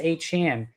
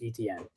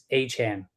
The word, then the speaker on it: Etienne: His name is not Travis Etienne. It is Travis Etienne. He said in college they could not pronounce it. So he just said, pronounce it as it looks, Etienne. But it is Travis Etienne.